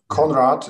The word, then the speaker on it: Conrad: Conrad is just Conrad, like Conrad. Joseph Conrad.